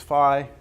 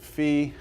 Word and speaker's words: phi: Rho cosine theta sine Phi now some people pronounce this Phi some people pronounce it fee you might hear me